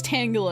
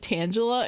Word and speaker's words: Tangela: T I'm So, I'm going to say I know it's Tangala. It's Tangula because it's Tangled, but as a child, I pronounced it Tangela, and it's really hard not to.